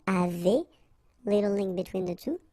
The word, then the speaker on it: avez: the two, nous avons, vous avez, Z at the end will produce this E sound, avez, little link between the